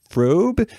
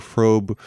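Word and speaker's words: Fröbe: say the pronunciation is frobe it's one of those European names where the O has the dots over at the unlocked yeah mr.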